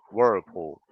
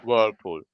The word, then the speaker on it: whirlpool: Americans would say this as Whoa, whirlpool, whirlpool, right? whoa, okay. It's difficult. British would be Mm. whirlpool. They don't pronounce Mm-hmm.